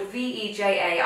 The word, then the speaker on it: Veja: Vejas. I say Vejas, but I think I'm wrong. What I think do you I say? Say Veja. Veja. Does that Veja? Even a word? Okay, whatever they're called, Veja, I feel like they're